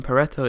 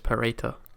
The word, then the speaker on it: Pareto: I mean, Pareto is the American way of saying it, and I'm British, so it's Pareto.